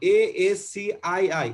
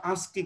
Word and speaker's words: ASCII: এভাবে উচ্চারণটা দেখো, ASCII, এটার উচ্চারণ বাংলা এভাবে বলতে হয় ASCII কোড। এটা উচ্চারণটা অনেকে হয়তো প্রথমবার বুঝবা না যে এটা কি লিখছি, উচ্চারণটা কি। উচ্চারণটা হলো ASCII কোড।